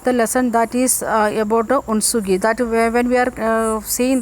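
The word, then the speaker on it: Hunsgi: The pronunciation is it is Unsugi, not Hunsugi. Sound it is coming, Unsugi.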